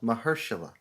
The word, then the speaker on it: Mahershala: Mahershala? Is that how you say it? Mahershala. Mahershala.